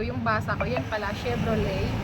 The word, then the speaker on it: Chevrolet: Chevrolet promise guys yung bigkas ko niyan dati Chevrolet tawang-tawa ako Tapos nung Nagbabasa ako t's narinig ko sa movie na ang bigas pala non Chevrolet so silent na pala yon o ' ba ganun